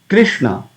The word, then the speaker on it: Krishna: So when you pronounce Hare Krishna Mahamantra, we come across this Krishna, Krishna, Krishna. So Kri, Kri, soft. We don't say Kri. It's not Krishna.